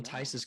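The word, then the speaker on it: Theis: That's how you pronounce his last name, right? Tice.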